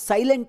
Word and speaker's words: silent: ಉಚ್ಚಾರಣೆನು ಒಂದೇ ಬರುತ್ತೆ ಇವುಗಳನ್ನು ಸೈಲೆಂಟ್ ಅಂತ ಉಚ್ಚಾರಣೆ ಮಾಡ್ತಾರೆ ಬಟ್ ಇವುಗಳ ಉಚ್ಚಾರಣೆ ಟೋಟಲಿ ಡಿಫರೆಂಟ್ ಇದೆ ಬೇರೆ ಬೇರೆದಿದೆ ಇವುಗಳಲ್ಲಿ first word S ಐ ಎಲ್ ಇ ಎನ್ ಟಿ ಇದೊಂದು ಟೂ ಸಿಲಬಲ್ ವರ್ಡ್ ಸ್ಟ್ರೆಸ್ ಇರೋದು ಫಸ್ಟ್ ಸಿಲಬಲ್ ಅಲ್ಲಿ ಲೆಟರ್ ಎಸ್ ಗೆ ಶಬ್ದ